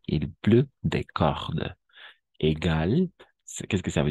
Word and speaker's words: cordes: Des cordes, no prononciamos las últimas dos letras. Il pleut des cordes.